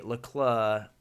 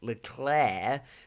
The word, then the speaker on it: Leclerc: is his charlie and because uh david croft likes to say leclerc like le claire which sounds like a